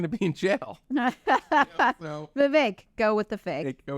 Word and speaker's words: Vivek: It's even better because his name is pronounced Vivek.